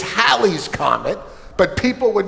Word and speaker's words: Halley's: Technically, it's Halley's Comet, but people would mispronounce it Haley's Comet, which was conveniently Bill Haley's last name.